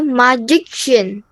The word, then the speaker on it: magician: the last three minutes magic there's a k sound when we're talking about the person that turns into an sh there's no k sound magician magician no there's no K in here it's not magic